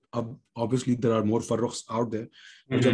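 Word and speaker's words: Farooq: फारूक की स्पेलिंग है एफ ए आर ओ ओ क्यू, क्योंकि वो फारूक है इसमें, इसके एंड में क, क इज अ Arabic Persian word, क नॉट क, अल comes फ्रॉम the epiglottis sort of.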